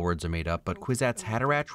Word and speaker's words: Kwisatz Haderach: I know all words are made up, but Kwisatz Haderach rhymes with knick-knack paddywhack, and we should all laugh at that.